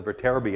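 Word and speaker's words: Viterbi: algorithm behind cell phones I think it's pronounced the vertebra B algorithm which deals with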